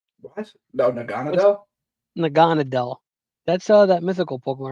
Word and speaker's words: Naganadel: Nag I can't pronounce that. Nagle what? No. Naganadel.